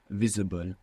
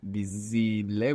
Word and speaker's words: visible: from English and pronouncing visible we don't want that we want V and the V is like a soft B if you want more